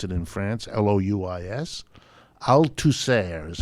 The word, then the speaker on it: Althusser: Althusser is how they pronounce it, Althusser.